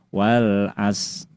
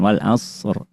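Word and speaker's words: وَالْعَصْر: Tapi kita harus berusaha saat tilawah jangan sampai menghilangkan huruf sukun yang kedua. Jadi yang nampak hanya shadnya aja. Wal as innal insana lafi khus. Nah, padahal ada roknya. Nah, jadi harus ditampakkan wal asr. Nah, jadi apabila 2 sukun bertemu dan bertemunya dalam satu kata, maka cara pembacaannya sudah sama-sama kita ketahui adalah dengan cara dibaca jelas kedua sukun tersebut. Sukun shad jelas, sukun ro jelas.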